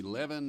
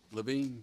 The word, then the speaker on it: Levine: Levin, I hope I'm pronouncing that right. Levine, yeah, okay. When I was on the bench, I used to be pretty good at that, but I'm not anymore. It's one of the approved pronunciations, just not ours.